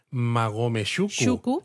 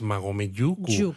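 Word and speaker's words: 馬籠宿: os lo decimos ahora, tras una vocal, cuando lo siguiente empieza por consonante, suele haber a veces un cambio fonético, entonces no es Magome Shuku, es Magome Yuku.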